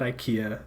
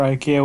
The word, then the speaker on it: IKEA: Now it's not like at IKEA, the American flag and the Swedish flag both fly at the same height. I'm pretty sure IKEA would not have it any other way though.